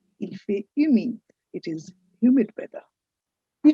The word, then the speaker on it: humide: Remember H is silent in French. So, you don't say "humide". You say "humide". Il fait humide.